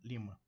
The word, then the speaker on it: Lima: Ok Lima Lima tran primeira sílaba tônica Lima Ah aqui nós temos